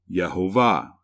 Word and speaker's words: Jehovah: genesis 3 14 where it is written with these vowels which provide the pronunciation jehovah this vowel pointing provides the e vowel this one the ah vowel and this dot which is called the holam represents the o sound in the dead sea